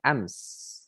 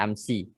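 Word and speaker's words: أمس: kemarin itu kita bilangnya ams. Apa? Ams. Ams. Kadang orang ada yang enggak, ada yang dibaca harokat terakhirnya amsi. Itu amsi ya enggak salah memang, cuman Kalau kita ikut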